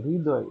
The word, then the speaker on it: হৃদয়: হ্যাঁ, এটা শব্দের শুরুতে এসেছে, এই জন্য হয়ের কোনো উচ্চারণ হবে না। হয়ের সাথে আছে কি? র। র কে দুইবার উচ্চারণ করতে হবে। র, অল্প প্রাণ এবং মহাপ্রাণ। এটা করতে হবে।